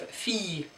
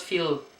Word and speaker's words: fille: And then we have fille. And that's the same as this one. You don't pronounce the L, but you make this I longer. So it's fille. So it's fille. Fille, fille, not feel, fille.